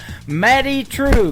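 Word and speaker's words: Madye Trew: It is M A D Y E on her first name and True is spelled T R E W. Matty True.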